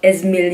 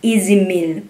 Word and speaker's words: Ez Mil: Honestly, before I thought Izmil yung pag-pronounce nito.